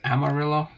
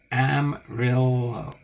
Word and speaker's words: Amarillo: I'm really low oh it's not Amarillo it's am real low Amber Amarillo um Amarillo Hammer yellow I'm sure it was originally pronounced the Hispanic way with the two o's sounding like a y okay but pretty sure it's just pronounced l-o Amarillo m r l o